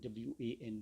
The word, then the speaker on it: wan: Mark the pronunciation, children, w a n, wan.